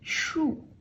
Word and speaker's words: 竖: It has the same pronunciation as the tree, so it's kind of interesting.